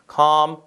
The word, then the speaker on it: calm: 이거 calm도 L 발음이 없죠? calm 아니잖아요. calm, palm 그렇죠? calm, palm 다 비슷한 말로 보시면 되겠습니다.